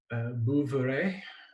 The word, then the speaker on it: Bouveret: Bouveret. If you're French, you'd never pronounce the last word or last letter. Why would you?